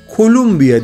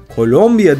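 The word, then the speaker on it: Colombia: yandığı bir konuda var Özellikle İngilizce telaffuz yapanlarla ilgili kolumbiya değil Kolombiya diyorlar Neyse ki Türkçede böyle bir sıkıntımız bulunmuyor kolombiya'da herkes ve her şey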